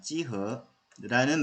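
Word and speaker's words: 幾何: 사실 기하 중국 발음은 찌허입니다. 찌허라는 말 자체도 geometry.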